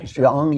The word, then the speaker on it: Jeong: How do you pronounce her name? Sarah Jeong? Jeong, yeah.